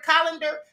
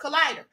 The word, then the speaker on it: collider: about CERN and I kept calling the word colander? That's because I had colander on my mind. The word is collider. And someone in the chat said, Queen, it's pronounced collider.